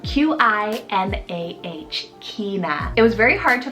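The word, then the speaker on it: Qinah: Now Q was hard, but I found one that I love, and that's the name Kina, spelled Q-I-N-A-H, Kina.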